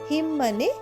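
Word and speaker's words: hymn: ওয়াই এম এন হিমমেও এম এর পরে এনটা উচ্চারণ হচ্ছে না হিম মানে ভজনবা বা ধর্মীয় গান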